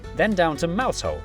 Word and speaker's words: Mousehole: Starting in Biaulio, Bewley, head over to Rampisham, Ransom, then down to Mousehole. Mousehole, Next, travel north up to Towcester, Toaster, then